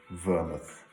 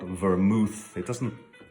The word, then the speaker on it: vermouth: actually having a good vermouth. I don't agree with him on the pronunciation, however. It's not vermouth. It should rhyme with Falmouth and not with forsooth, for goodness sake.